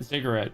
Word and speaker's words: ziggurat: Yeah, ziggurat.